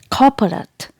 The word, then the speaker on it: corporate: of this world is corporate copyright it is not core rate here letter r is silent in british english and it is pronounced like cow and the stress is given on the first syllable not po po corporate